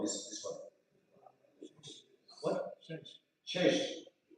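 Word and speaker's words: Sash: Shesh. How to spell it? S-A-S-H. Shesh.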